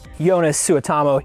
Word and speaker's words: Joonas Suotamo: It's always fun hearing people trying to pronounce his name. Joonas Suotamo.